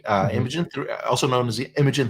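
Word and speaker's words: Imagen: a different model including imagine right uh imagin also known as imagin 3 I think the official pronunciation is Imagine but uh but I I I'm used to calling it imag so forgive me if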